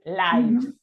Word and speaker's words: lives: As a verb, as a noun, it is pronounced differently, and also when it is in plural, the F changes to a V. Lives.